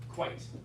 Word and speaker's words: quite: No, you just said quiet, 2 syllables. Quiet means, quite. Quite. Oh, I'm not quite sure. Yeah, make sure, 1 syllable, yeah.